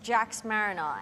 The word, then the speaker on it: Jax Mariner: That's a name I pronounced wrong first. But now we know it's Jax Mariner.